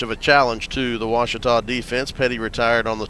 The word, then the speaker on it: Ouachita: Back in Texas, everybody pronounces it Wichita, but really, it's Ouachita. Ouachita. Ouachita. How would you pronounce it? Ouachita.